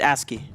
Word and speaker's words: ASCII: creative you call it asci I not aski asky yeah okay as you say asky orc aski it's aski it's asky okay it's an acronym right you know I